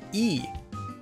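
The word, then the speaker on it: ㅣ: This vowel is pronounced e, like the e sound in the word tree.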